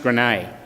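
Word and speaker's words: Graignes: this little village at it's spelt grain but pronounced grenade unfortunately for Stanley and the American paratroops he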